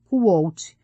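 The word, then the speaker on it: Kvothe: Meu nome é Kvolt, com pronúncia semelhante à de Quolt.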